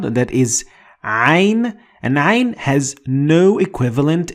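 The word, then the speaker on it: عين: So if you have difficulty pronouncing ain, you can just say a or I. Instead of it.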